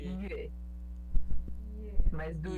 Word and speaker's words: 月: Só essa parte do yue, pronunciar yue, Yue. yue. E O U ele é mais próximo do I do que o U de verdade. É quando você fecha mais a boca pra falar. Então fica yue.